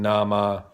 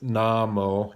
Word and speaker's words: nhamo: Now, not to give Amy too hard a time, but her pronunciation on Namo wasn't, she's kind of saying Nama. It's Namo, Nhamo, Namo ichauya.